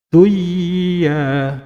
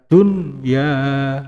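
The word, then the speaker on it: دنيا: Maka tidak boleh dibaca duya, tidak boleh. Harus dibaca dunya, ya, dunya.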